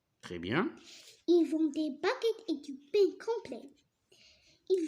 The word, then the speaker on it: baguette: Alors, et là, si on supprime U, ça va se prononcer bagette. D'accord? Alors, pour la prononcer baguette, qu'est-ce qu'on doit utiliser? On doit mettre U.